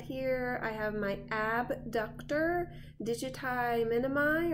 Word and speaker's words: digiti minimi: flexor digitorum brevis and then on the side here I have my abductor digiti minimi (or pronounced digite mini me) And that's it for the lower appendage!